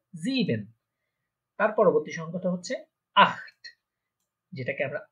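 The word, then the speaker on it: acht: বা জার্মানরা বলে থাকে আট, আট, খ, আট, একটু খ এর মতো উচ্চারণ মাঝখানে আট। আমরা দেখেছিলাম সেহা এর আগে যদি আ থাকে তাহলে এটা খ এর মতো উচ্চারণ হয় আট।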